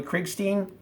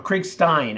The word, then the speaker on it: Krigstein: Slave Ship with art by Bernie Krigstein or Krigstein, actually. If you want to know between Feldstein and Krigstein or Feldstein and Krigstein, Al Feldstein is the right pronunciation.